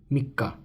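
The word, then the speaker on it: 三日: So the third day is numeral 3 followed by the sun radical, and this is mikka, mi, and this is the small tsu, which gives the pronunciation of mikka.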